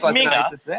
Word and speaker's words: Minge: He pronounces it Minger. He pronounces it Minger, but it's spelled M-I-N-G-E.